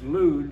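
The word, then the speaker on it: Lydda: IRAs is healed at Luda that's lud and not L as it's written in in our book anytime you find a y in the Greek it's pronounced with a u so it's lud or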